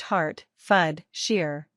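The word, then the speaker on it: Hertfordshire: county surrounding London they are buckinghamshire Essex herfordshire pronounced har fud Shear Burkshire pronounced bark Shear Hampshire Kent Su East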